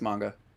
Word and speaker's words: manga: Is that how you pronounce it? I thought it was manga. It's manga.